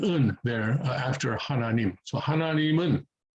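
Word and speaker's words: 하나님은: So hananimun, hananim un, hananim un. So you can pronounce it like that. A more advanced Korean speaker would sort of slide one into the other and say hananimun, hananimun.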